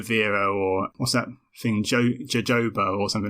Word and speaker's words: jojoba: But jojoba makes a little bit of sense because it's a Mexican plant. And in Mexico, J is said with an H sound.